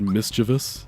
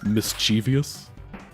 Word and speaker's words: mischievous: Like one of my pet peeves is when people pronounce the word mischievous like mischievous. That always bugs me. Like, it's mischievous is just wrong. It's not an alternate way of pronouncing it. It's just wrong.